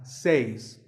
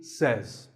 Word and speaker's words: says: number two is says this word is commonly mispronounced by people learning english as says but remember i say you say but he or she says number three is etcetera